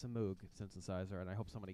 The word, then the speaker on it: Moog: Emerson's flamboyant use of the Hammond organ and Moog synthesizer and piano. That's Moog. Moog. Moog. Moog. M-O-O-G. It's spelled Moog. But it's pronounced Moog. Moog.